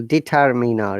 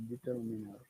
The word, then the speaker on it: determiner: And we should also pronounce R if there is vowel sound before it and after it. For example, determiner, yeah? Determiner. Determiner. Look, in determiner, we are pronounced the R that is in middle, determiner.